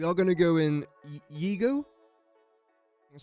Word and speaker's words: Yigo: We are going to go in Yigo. That's how you pronounce it.